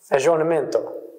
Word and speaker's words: aggiornamento: a second important movement, aggiornamento. Again, pretty good pronunciation. Well done. That's perfect.